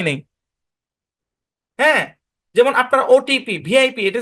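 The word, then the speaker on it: VIP: স্পষ্টভাবে উচ্চারণ করতে হবে এখানে যদিও আমাদের ভিপ হওয়ার কথা কিন্তু এখানে ভি হবে না যেমন দেখেন এল ইডি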